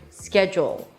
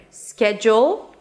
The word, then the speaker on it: schedule: So, let's begin with the fact that there are actually two ways to pronounce this word. Schedule, two syllables, and schedule.